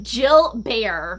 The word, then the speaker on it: Gilbert: Yeah, I wrote it at the top, Jill Bear, to Right. remember, like, that's how it's pronounced.